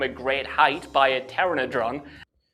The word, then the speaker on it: pteranodon: Did you just call it a Terrannadron? Yeah, he did. Um I'm sorry if I keep pausing to correct the pronunciation, but hey, that's literally my job kind of. Yeah. Um um it's pronounced pteranodon or let me just